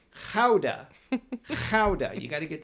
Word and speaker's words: Gouda: And we call that cheese Gouda, but in the Netherlands, the pronunciation is, now, wait for it, it's Gouda.